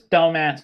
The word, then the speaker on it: Dumas: it will ship from dumas to here i like hey i like how you're still insisting on pronouncing it correctly but it's dumb ass texas well i know someone